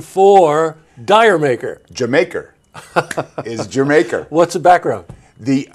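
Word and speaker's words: D'yer Mak'er: everything they could do absolutely right the correct pronunciation for dire maker Jamaica Jamaica what's the background the it's a it's from a British joke yes right yeah it's from British joke but everybody says Dyer maker yeah everybody says Dyer maker I said Diane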